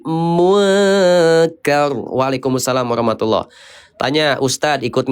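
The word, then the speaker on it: مُنْكَر: Nun sukun ketemu kaf, kodenya 2 IKSA, dibacanya samar, hukumnya ikhfa. Jadi bacanya bukan munkar, tapi munkar.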